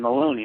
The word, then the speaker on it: Maloney: tonight my guest Christopher Mahoney right I didn't even ask you that that's normally the question I ask people how do they pronounce their last name it's Maloney with an L Maloney oh yeah you're